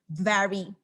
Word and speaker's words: very: You have to bite your lips. So it's like very, you gotta bite your sexy lips so that you pronounce the V instead of the W. So it's very, okay?